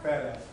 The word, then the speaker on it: FADAF: Can you pronounce that title? FADAF? FADAF.